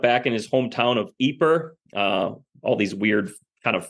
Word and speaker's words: Ypres: He then ends up back in his hometown of Ypres, all these weird kind of French names in this area. This is Y-P-R-E-S, and I believe it's pronounced Ypres, which was his hometown,